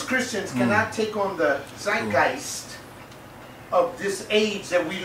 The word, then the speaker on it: Zeitgeist: Now, I went to Wikipedia and downloaded this word of the, how do you say it, Bob? The zeitgeist? Zeitgeist.